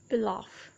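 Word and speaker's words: pilaf: इसकी right pronunciation है पिलाफ.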